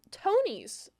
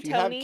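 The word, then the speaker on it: Tonies: For for listeners, it's spelled T O N I S. So, I would say Tony.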